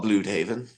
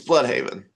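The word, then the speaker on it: Blüdhaven: Don't call it Blude Haven. It's Blood Haven.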